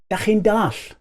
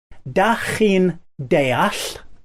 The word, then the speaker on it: Dach Chi'n deall: Now on the streets you might actually hear people say, Dach Chi'n dall? Dach Chi'n dall? Do you understand? I'll say it slower so you can get the pronunciation. Dach Chi'n deall, or the shorter version, Dach Chi'n dall.